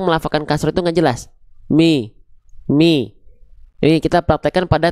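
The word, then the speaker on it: مِ: Bi m enggak. Tapi bi mi. Angkat tengah lidah. Rendahkan rahang bawah.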